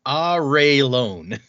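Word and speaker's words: Arelon: they're in, is it Arlon or Arlon or I always said Airlon? Uh, according to this, it is pronounced Aron. Oh my god. I'm gonna say Aerolon. I'm I'm gonna continue saying that. Airlon.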